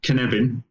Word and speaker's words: Cynefin: It's a Welsh word, so it's spelt differently to, I would say it, but Cynefin.